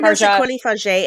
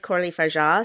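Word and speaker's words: Coralie Fargeat: look at even like what's coraly f is that the pronunciation did I just I think I for Cory F and my head forever but apparently it's corly FAA so I'm still trying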